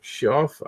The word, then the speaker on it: Schaaf: for a bigger name so it's Schaaf chef he told me not pronounce it and I wrote it